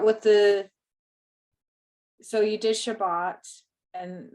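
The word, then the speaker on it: שבת: placed over the consonant so like we were pronouncing the word Shabbat it's Shabbat that's the stress because that follows the rule the last yeah so with Shabbat then it would be Shabbat uh-huh correct yeah Shabbat follows the the rule so that last but is a closed so ba bought is a closed syllable and so that's the the final one so Shabbat that bot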